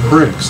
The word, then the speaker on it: Brix: uh water content in honey but it measures bricks that's spelled b r IX you can go online